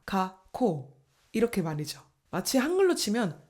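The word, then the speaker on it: 学校: 예를 들면 학교를 일본어로 발음할 때 각코 이렇게 발음하는게 아니라 가코금에서 멈춰 주고 뒤에 발음을이어서 덧붙여 줘야 됩니다. 가코 이렇게 말이죠.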